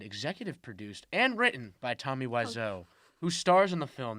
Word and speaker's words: Tommy Wiseau: really interesting thing is like how much power tommy wiseau is that how you say his name yes